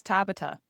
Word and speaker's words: Tabata: No, I didn't ask him any questions, but it's all, we're all pronouncing it wrong. It's tapa. Oh, is it? Oh, shit. Okay. But I still like Tabata.